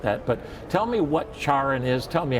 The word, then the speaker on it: CharIN: I say it like a Frenchman, CHARIN, Yeah.